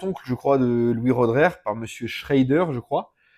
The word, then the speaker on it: Roederer: je crois de Louis Rodrer, par monsieur Schraider, je crois. Et euh après Louis Rodrer, bah voilà, il voulait donner d'ailleurs, on dit Redrer d'ailleurs comme ça qu'on prononce correctement, il voulait donner euh